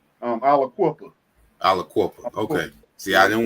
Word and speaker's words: Aliquippa: Now, the city, is it pronounced Aliquippa? Aliquippa.